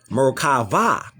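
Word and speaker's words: מרכבה: In Hebrew, it is Merkavah.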